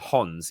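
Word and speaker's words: Hons: they actually call them Hans even though you wouldn't normally pronounce the h or Hans um and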